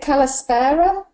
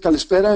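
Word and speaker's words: Καλησπέρα: So is it Kalispera? Yes.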